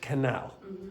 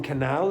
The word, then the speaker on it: canal: Around the Grand Canal. Okay, so the stress in canal is canal, not canal. Canal.